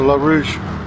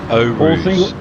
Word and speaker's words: Eau Rouge: 4th place, 5th, 6th, they're all coming down into La Rouge. Now I've got to pronounce that correctly for the first time. Eau Rouge and Radio.